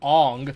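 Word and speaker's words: Aang: realized they tried to they changed the names to try and sound more Asian like they changed Ang to on like angu and Saka to SOA and iro to EO oh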